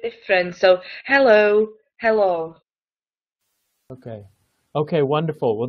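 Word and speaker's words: helo: in English hello okay so it's a little bit the O is a little bit heavier so hello hello hello the is just a bit different so hello hello okay okay wonderful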